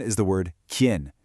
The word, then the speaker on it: quién: Okay, tip number 1 is the word quién. You want to make it one quick, sharp syllable. It sounds like quién.